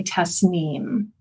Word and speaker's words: Tasnim: repr pronounce my name it's an Arabic word that often gets mispronounced and it's important because the vibration I think our name is so important of who we are and so it's actually Tess neem thank you Tess I